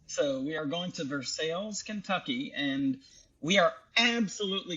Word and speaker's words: Versailles: The French would pronounce it as Versailles. Versailles, right. Us Americans like to call it Versailles. So we are going to Versailles, Kentucky, and we are absolutely going to do some filming.